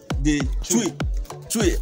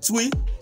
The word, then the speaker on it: Twi: to be speaking the chui. I called it chui. He said no, that I didn't pronounce it well. So here the way he's pronouncing it now.